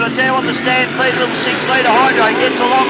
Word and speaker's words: Stampede: I should tell you the story behind Stampede. It's spelt Stan, S-T-A-N, Pede. And that's pays homage to Stan Jones.